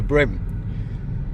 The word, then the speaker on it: bream: In Australia, we call it a brim. Spelled the same way, but uh that's what we call it and that's how we pronounce it.